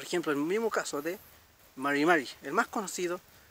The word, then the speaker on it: mari: Por ejemplo, el mismo caso de Mari, el más conocido, y a veces nos complica un poco, que es Mari.